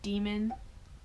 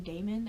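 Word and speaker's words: daemon: and Dee and I pretty sure you pronounce his name demon I've been saying I've been saying Damon ever since I read it but I just read the Golden Compass and it spelled the same as demon in the Golden Compass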